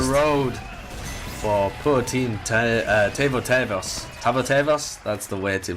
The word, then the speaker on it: Tavo tëvas: end of the road for poor team uh tavo tavos that's the way to pronounce it and uh they do lose five